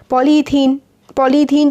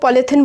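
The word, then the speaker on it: polythene: और जो हम लोग पॉलीथिन बोलते हैं ना जिसे, वो एक्चुअली उसका जो प्रोनाउंसिएशन होता है वो पॉलीथीन होता है ना, क्योंकि पॉली प्लस इथीन से वो बनते हैं जो डेली यूज़ करते हैं हम लोग।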